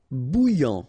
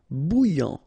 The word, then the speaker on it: bouillant: Bouillant, final T not pronounced. A and together, remember, nasal, en, okay? And then here you get bou, alright? And after that you get this yan, okay? Bouillant, bouillant.